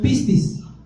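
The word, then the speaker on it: πίστις: Mire, para aquellos que apuntan, la palabra fe se escribe en su origen griego pistis. Pistis, así como de pistache, pistis.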